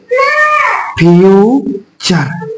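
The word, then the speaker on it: future: हम ऊपर पढ़ा है बच्चे इसको नहीं पढ़ टी आर को क्या पढ़ देंगे चर तो इस मीनिंग को हम लोग मिला के पढ़ेंगे फ्यूचर क्या पढ़ेंगे हम लोग फ्यूचर क्या पढ़ेंगे इसको एफ य को फ्यू और टी आर शब्द को पढ़ेंगे चर इस तरीके से बहुत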